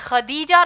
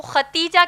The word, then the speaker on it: خدیجہ: ان کا نام اصل میں خدیجہ رضی اللہ تعالی عنہا ہے. ہم عام طور پر ان کو ختیجہ کہتے ہیں، دراصل نام ہے خدیجہ جس کے ہجے ہیں